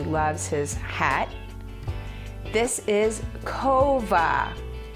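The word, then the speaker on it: כובע: how much he loves his hat this is kova kova is hat cat kova and here's a lovely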